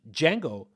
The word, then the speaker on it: Django: Why D is silent in Django? Uh, J Django. Oh, that's a good question. Django.